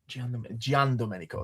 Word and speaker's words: Giandomenico: my gosh, how did he tell us to pronounce it? You remember, Dom? Carmine Di Giandomenico. Giandomenico.